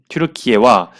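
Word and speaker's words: Türkiye: 특히 아제르바이잔 외교 그 정책에 거의 뭐 엄청난 비중을 차지하고 있는 터키가 여기 터키라고 찍었지만 튀르키예라고 발음을 하겠습니다. 튀르키예와 이스라엘 외교가 정상화되었습니다.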